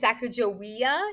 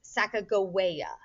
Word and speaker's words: Sacagawea: unfortunately through the years many uh people have pronounced this sacagawea even some of my social studies teachers used to do that but we've now learned her name would be pronounced sacagawea so i'm gonna try